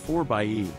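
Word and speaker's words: 4xe: a fuele efficient plug-in hybrid called the 4z pronounced 4 bye at a luxurious interior with all of the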